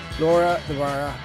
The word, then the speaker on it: Laura de Barra: Laura Dvara, welcome. Did I pronounce that properly?